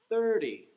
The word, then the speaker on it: thirty: But then with the number 30, 30, right? It would be the first syllable that gets the stress. 30, 30.